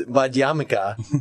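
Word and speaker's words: Madhyamaka: The same video was Madhyamika, like Hanukkah, to make me think of that.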